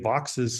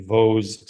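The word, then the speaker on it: Vaux's: Yeah, this is a Vox's swift, which for many years I called a Vaux swift because it looks like that's how you would pronounce it. It's VAUX''S. I have been told it is Vox's by people who sounded more sure of themselves than people who told me it was Vaux.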